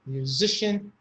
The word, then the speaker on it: musician: Magician, musician, technician. So the CIAN is shin.